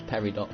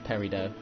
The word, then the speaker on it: peridot: my black recorder Ramu I always thought it was peridot but it's peridot playing pronouncing that's good